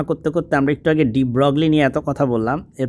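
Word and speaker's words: de Broglie: আচ্ছা, এর পরবর্তী প্রশ্ন দেখেন, আলাপ আলোচনা করতে করতে আমরা একটু আগে ডি ব্রগলি নিয়ে এত কথা বললাম, এর পরের প্রশ্নটাই ডি ব্রগলি নিয়ে। এটা কিন্তু ডি ব্রয় হবে সঠিক উচ্চারণ, যাই হোক।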